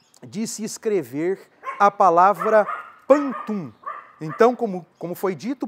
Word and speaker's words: pantum: E agora sim, apresentando o nosso tema da nossa edição número 120, nós vamos falar sobre o pantum.